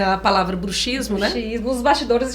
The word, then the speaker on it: bruxismo: do Ranger 200 ali é bruxismo do mesmo jeito de táxi isso foi novidade até pra gente com som de KS porque muitos profissionais falam bruxismo olha só bruxismo eh